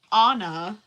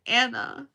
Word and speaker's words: Anna: And it's not Anna, like the stinking Disney princess who ruined my life, because now every college professor or like anybody is always like, oh, Anna, and I'm like, no, they say it wrong. It's Anna.